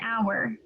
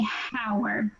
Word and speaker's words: hour: hour because yes so it's an hour because you don't pronounce the h you don't say howard you said does that